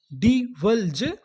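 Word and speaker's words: divulge: English का एक महत्वपूर्ण रूल होता है, अगर आपको किसी भी मीनिंग के आखिरी में ई लिखा मिले तो हम लोग ई का उच्चारण नहीं करते, यानी ई से पहले तक का उच्चारण करते हैं।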